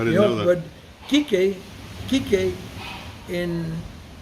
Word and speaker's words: Kiki: everybody yeah anybody who's in R it's either Kiki or Kik okay I didn't know that but Kik Kik in it's spelled k i ke yeah Kiki k i